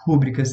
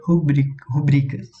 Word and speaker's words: rubricas: Não se diz rúbricas, tá, pessoal? Porque se fosse... A gente vai ver isso, talvez, né, futuramente. Mas como não tem acento, a pronúncia certa seria rubricas.